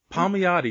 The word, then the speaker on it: Palmiotti: great Jimmy palm I'm gonna say it wrong Paul Miyata yes it's funny I'm bear what names and